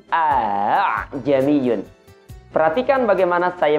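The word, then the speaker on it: أَأَعْجَمِيٌّ: Cara sederhana, kita menemukan kata a'jamiyun di ayat ini, kita baca dengan bunyi a'jamiyun.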